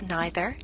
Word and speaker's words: neither: no means hardly little neither which could also be pronounced as neither nor no sooner than